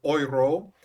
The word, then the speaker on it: euro: numbers and the word oyro and e-u-r-o is pronounced in French everyone try saying that oyro so yro grow that